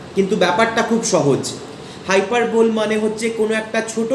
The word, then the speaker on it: hyperbole: এরপর চলে যাচ্ছি আমি পরের ফিগার অফ স্পিচ, যেটা হচ্ছে হাইপারবোল। মেটোনিমি সিনেকডকিটা একটু কঠিন ছিল, সেই তুলনায় কিন্তু হাইপারবোলটা বোঝা অনেক সহজ, বানানটাও সহজ, HYPERBOLE, হাইপারবোল, HYPERBOLE, হাইপারবোল।